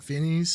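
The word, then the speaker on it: Fiennes: Voldemort or whatever yeah it's like fness right fines yeah pH something yeah yep I was thinking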